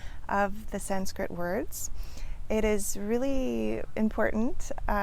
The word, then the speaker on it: Sanskrit: So let's start with the word Sanskrit itself, which I often hear mispronounced with adding a D in there, Sanskrit, or an M, Sanskrit, things like that. So it's Sanskrit.